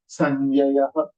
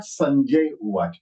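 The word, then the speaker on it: संजयः: So this will be Sanjayah, Sanjayah, Mama Nama Sanjayah, Sanjay Uvaj. Okay, it is not Sanjay Uvaj. Sanjay Uvaj, Uvaj, जो हम श्रीमद् भगवद गीता में आता है पहला.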